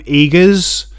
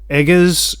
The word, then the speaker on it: Eggers: gonna butcher his name eagers eggers i think it's pronounced eagers uh he directed other